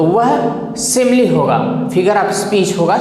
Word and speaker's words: simile: और एक चीज़ और ध्यान दीजिए, फिगर ऑफ स्पीच में पहला जो है सिमिली, इसे कुछ टीचर्स पढ़ते हैं सिमिल, लेकिन इसका सही प्रोनाउंसिएशन शुद्ध पढ़ा जाता है सिमिली।